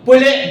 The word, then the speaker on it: Pule: Ano itong puli beer so ganon pala yung pronunciation no hindi pule beer ano puli beer nag Diner po ito